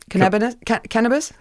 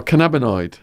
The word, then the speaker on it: cannabinoid: Say it. Cannabis? No, cannabinoid. Cannabinoid.